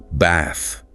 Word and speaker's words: bath: In many British accents, it's a longer dis sound. Think bath, not the shorter A you often hear in American English.